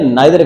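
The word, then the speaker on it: neither: नीदर कह लें, नाइदर कह लें, both of द pronunciation according to RP, both of them they are correct.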